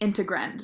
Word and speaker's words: integrand: understand the word is it's like dividend if that helps you at all but it's called the integrand so that is the